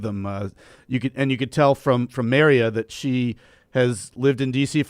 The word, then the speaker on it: Marya: Terry and is it Maria? Is that how you pronounce her name? It's Marya. Is it Maria? Maria. Okay.